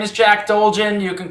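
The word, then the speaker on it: Jack Dolgen: it's wrong jack dulgin it's my name is jack dulgin you can call me and i oh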